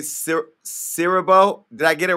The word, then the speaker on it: Siriboe: and only uh kofi i want to say sir cyril did i get it right yeah you said